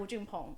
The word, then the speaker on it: Wu Junpeng: So correct me if my pronunciation. Wu Junping and Nia. Yes. Nia and Wu Junpeng.